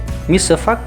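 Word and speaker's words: misce fac: Yang pertama dengan singkatan dalam resep adalah MF, ya, dengan kepanjangan, dan cara pengucapannya adalah misefak, dalam artian di situ artinya adalah campur atau buatlah, ya.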